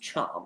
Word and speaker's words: Cham: I've learned it's pronounced Cham, even though it makes 0 logical sense. That should not be pronounced Cham, but I digress.